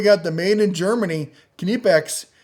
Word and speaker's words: Knipex: the made in Germany knipex remember you pronounce the k this is their Cobra